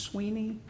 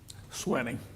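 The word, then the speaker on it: Swiney: Think of it as the old bicycle, Schwinn, Very well.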